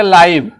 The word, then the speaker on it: live: और एक हो गया लाइव, शब्द यही है, बिल्कुल सेम स्पेलिंग है, लेकिन यहाँ देखिए इसका प्रोनाउंसिएशन थोड़ा सा बदल गया, लाइव हो गया, और इसकी हिंदी बिल्कुल बदल जाएगी, सजीव प्रसारण, ठीक है।